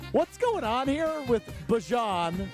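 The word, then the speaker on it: Bijan: How you pronounce my name is Bjon for everybody that's that's out there. Um I know a lot of people say Bejon, but it's Bjon.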